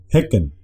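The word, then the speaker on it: hekken: Y para que se mantenga el sonido Heck, se dice Hecken.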